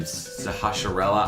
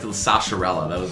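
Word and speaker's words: Sahasrahla: When I was a kid, I was like Zahashrala, I think is how you pronounce it.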